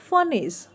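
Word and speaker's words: furnace: Then they melted the statue in अ फर्नेस. यहाँ पर भी आर जो है साइलेंट है.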